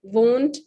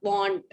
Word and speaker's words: won't: Pronunciation won't, not want.